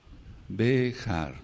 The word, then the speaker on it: Behar: allá dejar dejar dejar se escribe con b grande por así decirlo en la fonética la letra la letra j la letra y la letra r dejar béjar qué quiere decir en